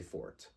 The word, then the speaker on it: Forte: it becomes F so that e at the very end makes you have to pronounce the T so the pronunciation changes